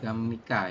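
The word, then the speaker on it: 갑니까: gamnika ya. Bukan gap tapi gam dibacanya. Ya, gap. Bacanya gam kayak gini Ya, ya.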